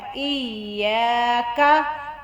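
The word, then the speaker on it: إياك: یہاں پہ یا کے ساتھ الف ہے اور کوئی بھی حروف کے آگے الف آ جائے تو ہم نے اس کو تھوڑا سا لمبا کرنا ہے اور یا کو نرم لہجے سے پڑھنا ہے. الف زیر یا ای. یا. کاف زبر کا، کاف کو پتلا پڑھنا ہے.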